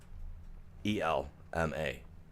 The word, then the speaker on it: Elma: E L M A. A L M A. Technically, Elma. You know what I mean? when you pronounce it.